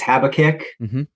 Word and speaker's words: Habakkuk: So, and I might mispronounce it, but it's Habakkuk 2:2-3.